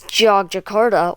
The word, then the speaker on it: Yogyakarta: You can pronounce Yogyakarta or often simply Jogja.